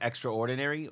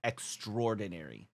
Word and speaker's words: extraordinary: Except we don't really pronounce it extraordinary. We pronounce it extraordinary. The A kind of like goes away.